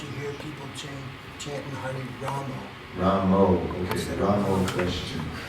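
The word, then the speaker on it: राम: I think Ramo is a bit too much. I think the A though is not Rama. It's not a long A, it's a short A until it becomes a soft A, Rama, then Ma. And if you chant Ma, some people hear that as O. I think that's A. So it's subtle.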